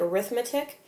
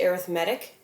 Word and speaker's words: arithmetic: Now I know this looks like arithmetic, but it's actually pronounced arithmetic sequences.